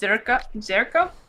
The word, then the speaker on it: Zherka: that's not surprising Jerka is that's how I pronounced Jerka Albanian uh oh I just typed out of